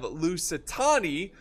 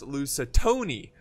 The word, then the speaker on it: Lusitani: And then we have Lusitani, which I used to pronounce Lusitoni, you know, like, ah, Lusitoni, you know, Lusitoni's here.